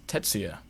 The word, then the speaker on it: Tetsuya: instagram film page the dance of cinema bruce tetsuya is that how i pronounce it your man absolutely correct yeah all